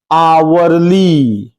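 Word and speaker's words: hourly: जो है आवरली report अब देखिएगा आवरली रिपोर्ट इसका उच्चारण स्थान क्या हो जाएगा? आवरली। पहला अक्षर क्या आ जाएगा? हां। क्या लगेगा? एन।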